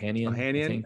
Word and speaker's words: Ohanian: Alexis Ohanian. Is that how you say his name? Ohanian.